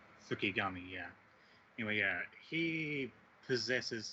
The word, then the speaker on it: Fukigami: Fukigami, yeah.